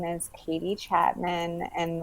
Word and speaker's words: Chapmon: my name is katie chapman and the last name is felt a little bit different it's c-h-a-p-m-o-n and now you say it like m-a-n-n and then you can